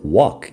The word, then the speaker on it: walk: Eso porque no se pronuncia la L en walk.